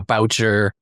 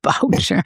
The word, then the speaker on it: Boucher: Boucher. Oh, jeez. Boucher.